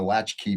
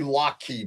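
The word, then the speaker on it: latchkey: Because I know being a latch key, baby. You got that, Dr. Wong. I didn't say lock key baby, latch key baby. I was I was scolded and told I said it wrong.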